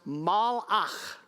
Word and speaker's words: malach: The Hebrew word is pronounced malach.